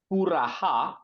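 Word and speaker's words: पुरः: Puraha, you put a ih sound, purah, klipte, pade, varada, comma, tava,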